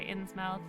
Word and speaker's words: Innsmouth: way to pronounce it i say ins mouth it's english you frown the 1920